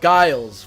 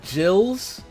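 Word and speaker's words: Gilles: I was told now I called him uh Guiles before, which Senor Lopez says it's pronounced more like Gills.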